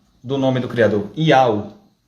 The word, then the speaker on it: יהוה: Então, qual vai ser a pronúncia do nome do Criador? Iau.